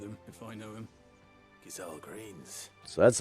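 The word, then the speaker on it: Gysahl: Gazelle greens. So that's how you pronounce that.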